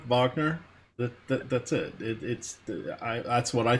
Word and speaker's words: Wagner: That's how you pronounce it, like the composer Wagner.